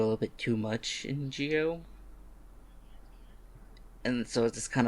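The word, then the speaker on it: Zi-O: How is Gio? I hate that that pronunciation so much. Z's are pronounced as G's and J's in Japan. So it's Gio.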